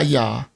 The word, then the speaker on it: Jah: and she told him there was no J in Hebrew because the J just got created in the 1500s right so definitely with no Jay thousands of years ago so that that and